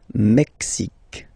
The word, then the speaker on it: Mexique: Mexique. It's really the X. Huh? Le Mexique. And then remember this QUE, it's only K. Mexique.